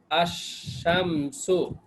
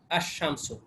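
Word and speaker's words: الشمس: যেমন হরফে শামসিয়া কি, এই যে শিন, শিনটার আগে যদি আলিফ লাম যুক্ত হয় তখন কি হবে, আশ-শামসু, এই যে লামটার উচ্চারণ হবে না, আশ-শামসু।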